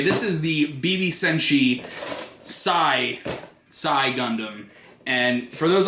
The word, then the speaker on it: Xi: name is that and apparently I've always been pronouncing it as she gundam aur kisi Gundam but apparently according to the gun wiki it's sigh like sa I and I have no